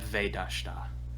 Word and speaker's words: Vedashta: Get Vedashta is how to say it.